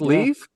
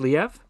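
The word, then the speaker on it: Liev: Ray Donovan is Leaf. Um I'm not sure how you pronounce I thought it was Lev, but L I E V.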